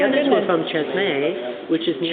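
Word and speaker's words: Çeşme: from Chesme, which is near Cheshme. Cheshme. Chesme. I didn't know how to pronounce Oh, it.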